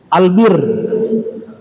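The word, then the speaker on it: البِرّ: kalau Marga Albar Bakti bentuk fail Albar huruf bnya panjang ya Albar orang yang berbakti Albar pendek huruf banyak daratan albir perbuatan baik albur gandum semua hurufnya sama hanya cara bacanya ada sedikit berbeda ya Nah ternyata kebajikan itu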